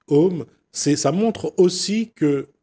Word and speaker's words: Om: en fait c'est ça s'écrit a M a M a mais bon on dit om c'est ça montre aussi